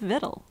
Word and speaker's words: victual: Though the difference seems little, we say actual but victual.